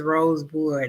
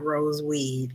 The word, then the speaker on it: Rosewood: He was like, no, my name is Rosewood, not Roseweed.